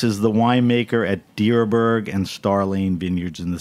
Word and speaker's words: Dierberg: Tyler Thomas is the wine maker at deerberg and starlane Vineyards in the Central Coast of California near Santa Barbara is deerberg the right way to pronounce it you're correct you got it this